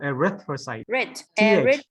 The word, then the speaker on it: erythrocyte: erythrocy so put the put the right pronunciation first so red Retro size okay so erythrocyte good exactly a retro size okay so it's a th you don't you don't swallow the erythrocytes say slowly you get it right good next one blue